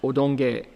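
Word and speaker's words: 優曇華: The Japanese pronounce Yotanhua as odonge.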